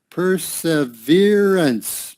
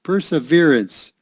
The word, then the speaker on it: perseverance: this is a good word here per se perseverance perseverance that means you stick with it you stick